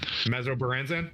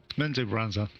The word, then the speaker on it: Menzoberranzan: And we'll kind of Mesobaranzan. Did I say it right? Menzoberranzan.